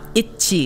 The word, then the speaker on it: ITZY: very much so the group itsy uh in Korean pronounced means the girls have everything you want Ichi in Korean and it also sounds